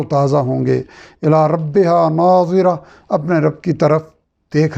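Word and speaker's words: ناظرة: سے بہت اہم ہے۔ پہلے ناظرہ ضاد کے ساتھ ہے اور دوسرا ناظرہ زوا یعنی زوئے کے ساتھ ہے۔ دونوں کے معنی،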